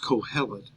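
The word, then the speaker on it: קהלת: here for a teacher uh in the Hebrew pronunciation is calet and it means somebody who gathers somebody who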